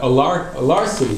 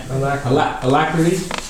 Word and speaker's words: alacrity: This is definitely something that is worth pushing ourselves to have that alarcity. How do you say it? Alacrity. Thank you.